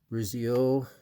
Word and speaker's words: Brizio: Brizio.